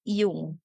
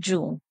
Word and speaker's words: Jung: is Carl y Okay it is Actually pronounced as yung hindi pala siya Jung Carl yung so Naniniwala